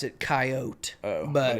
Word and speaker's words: Coyote: I pronounce it Coyote.